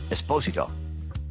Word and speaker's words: Esposito: their mano amano showdown and yes it is pronounced esposito anyways as we saw howard's first scene with